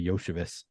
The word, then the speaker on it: Iosivas: I had never heard of him before doing those shows, but that's where I learned Andre Yoshevich. Yeah, it is spelled Iosivas.